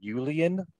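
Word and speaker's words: uilleann: U-I-L-L-E-A-N, Julian pipes? Yeah, yeah, that's close enough.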